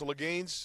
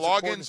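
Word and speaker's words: Loggains: And then Dowell, I guess Laganes, is that how you pronounce his name? From Chicago. Are we calling Loggins or Laganes? Loggins, like Kenny Loggins, Kenny Loggins in Messina.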